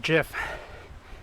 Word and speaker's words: GIF: rout it's just like Jeff and GIF it's pronounced GIF for graphic interface GIF like giraffe not GFF